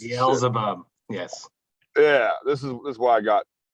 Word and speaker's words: Beelzebub: I don't know how to pronounce it. Beelzebub, yes.